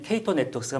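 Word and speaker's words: Cato Networks: 많은 분들이 저 K2를 보시면 카터라고 읽으시기도 하고요. 세시를 사세라고 읽으신 분이 계신데요. 정확하게는 K2 네트워크스가 맞습니다.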